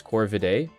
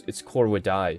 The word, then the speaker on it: Corvidae: We pronounce it today as Corvidae, like AE. But in classical Latin, it's Corvidae.